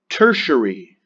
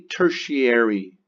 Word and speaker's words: tertiary: but repeat after me tertiary it's I know there's an A in there but we don't say tertiary tertiary is that sug an